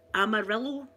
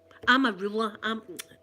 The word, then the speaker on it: Amarula: So for New Year I've bought myself a bottle of Amarillo. Bet I'm saying it wrong. Amarillo. No, it's no Amarillo. What's it? What is it? Amarillo. Is it Amarillo? Amarula.